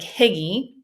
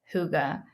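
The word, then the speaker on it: hygge: this word wrong because it doesn't look like Huga at all um it looks like higgy it's spelled h y g g I'm actually reading a book it's called holy Huga or higgy as I've been saying um you might be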